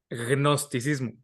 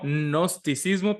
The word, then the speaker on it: gnosticismo: Gnosticismo. No. No, es como gnosticismo, pero con G Like al principio.